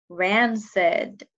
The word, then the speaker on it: rancid: I heard the soft C in the word rancid.